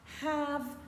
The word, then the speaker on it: have: est lui aussi irrégulier have had had veillez à bien prononcer le H c'est très important have had had entendre